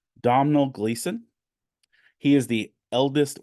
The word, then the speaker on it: Domhnall: One is let me say his name right, Domhnall Gleeson.